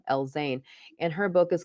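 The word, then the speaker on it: El-Zein: gulf right now and her last name is spelled e-l-z-e amira l-zane and her book is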